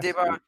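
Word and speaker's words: Des Barres: Yeah, DeBar. DeBar.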